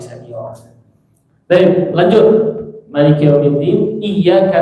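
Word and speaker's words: إِيَّاكَ: Maliki yaumiddin, iyyaka na'budu. Iya. Jangan baca i. Iya. Tapi enggak terlalu kuat juga. Iya, begitu. Iya. Ada tasdid di situ ya. Iya. Iya-nya tipis ya.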